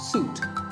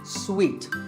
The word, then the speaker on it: suite: in a hotel and this is wrongly pronounced by many people as suit but it's sweet like when you eat